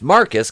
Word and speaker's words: Marquise: the floor though in marquise pronounced marcus because he's [ __